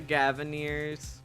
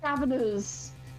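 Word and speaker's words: Gavinners: It's spelt Gaviners, but it looks like it could be spelt Gaviniers. And then it makes more sense to my brain as Gaviniers.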